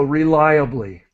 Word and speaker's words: reliably: word is is important r that syllable is lie so reliably M rely on something uh